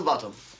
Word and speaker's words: Botham: bottom said but it's spelt Balkan and it's pronounced bottom I just told him that hand or thank